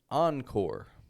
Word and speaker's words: encore: It is a mix of an American and French pronunciation. I'll show you an example. The word encore. Encore.